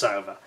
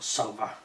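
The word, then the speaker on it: Sowa: And Kurt Sauver, the last chap, it's spelled S-O-W-A surname, but I think it's pronounced Sauver, or Sauver.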